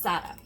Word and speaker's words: za'atar: Now this is just olive oil, liquid aminos, salt, pepper, and za'atar. That's all it is, or za'atar if you spell it out the American way. But the actual pronunciation is za'atar.